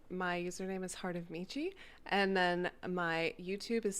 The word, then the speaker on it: Michi: or Michi but it's it's from my anime days that's why I pronounce it Michi because I see I